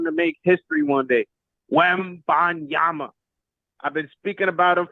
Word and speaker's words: Wembanyama: When you say his name, make sure you get all the syllables right.